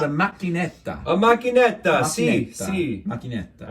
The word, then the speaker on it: macchinetta: It's coffee, but in Italian it's called a macchinetta.